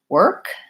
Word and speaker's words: work: I see an R same for the word work I really could spell that with an ER work it just has the one sound and no o R